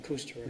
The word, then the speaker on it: Kusterer: have the connection onto, what's the pronunciation of that road name? Kusterer. Yeah, Kusterer.